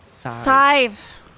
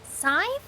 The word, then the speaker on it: Sadhbh: Scythe. Right? Scythe? Isn't that it? Scythe. Yeah, see? Like, think of the number 5, put a s in front of Scythe. it, and then you've got It's- scythe.